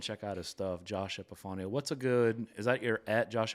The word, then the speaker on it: Epifanio: Yeah, EPIFANIO, Epifanio. Right. And it's Epifanio if you need to have a little Italian to it.